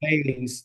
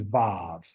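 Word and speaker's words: וו: different ways that it has been said on on how to say this. So the European way of saying is Vav. Okay. But the ancient Hebrew is Wa.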